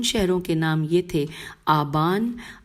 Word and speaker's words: آبان: کے نام یہ تھے آبان، آزر، دئی، اچھا ہجے کر لیتے ہیں، الف مدہ بے الف نون آبان، الف مدہ زال رے